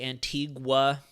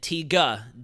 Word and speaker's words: Antigua: love that you pronounce our name correctly most Americans say Antigua however Dominican Republic a different local language despite the islands names okay so Dominica Dominica Dominica and TGA Dom I'm going to get this right I